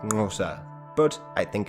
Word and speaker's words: Xhosa: the local san people hence cosa is usually pronounced something like gnosa but i think it's